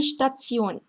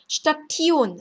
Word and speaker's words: Station: Die Station, 기차역, 전철역 할 때 역, die Station, Station 아니고요. die Station입니다.